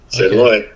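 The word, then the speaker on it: xin lỗi: Yeah, it's pronounced S-I-N, but it's spelled X-I-N. Sinloi.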